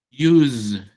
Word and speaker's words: use: Use, miren, usar use escribe con s, pero se pronuncia con Z. Use.